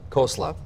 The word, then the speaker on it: Khosla: However, the co-founder of Sun Microsystems, I don't know how to say his name, is it Vinod Khosla? Khosla.